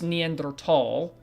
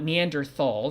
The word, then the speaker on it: Neanderthal: And yes, it is Neanderthal, not Neanderthal. Neanderthal, T-H, you know, you pronounce the T and the H separately. It's not a th, it's a t-ha.